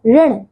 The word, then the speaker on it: ऋण: चौथा देखिए, री की मात्रा का उच्चारण भी लगभग र के तरह ही होता है। जैसे देखिए तृण, जैसे कि देखिए ऋण, ठीक है, कृषक, ठीक है, आदि।